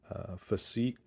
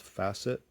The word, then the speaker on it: Facit: this is my physique or maybe it's pronounced facet model TK mechanical calculator